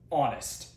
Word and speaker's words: honest: This may be an H but we say N because of the silent H is an O. Honest.